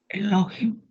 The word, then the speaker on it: Elohim: Ini bacanya jadi Elohim. Iya. Elohim. tambah lo tambah him tambah memsopit dia jadi bacanya elohim ya terus ini b